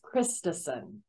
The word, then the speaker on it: Christison: last name yes so my last name is christison so people immediately think